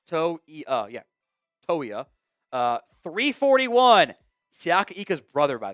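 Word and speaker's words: Toia: You got pronounced that correctly. It's to uh yeah toya.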